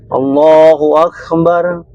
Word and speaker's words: Allahu Akbar: Kan hukum takbir lafaz Allah itu hanya 2 harokat. Apalagi dikala sholat, tidak boleh, jangan main-main. Batal sholat kita. Jadi cara baca takbir itu yang benar, Allahu Akbar. Oke lah, kita lidah Melayu mungkin ya. Allahu Akbar. Mungkin 4 harokat.